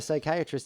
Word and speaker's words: psychiatrist: Why can't you hear a psychiatrist use the bathroom? I don't know. Because the P is silent.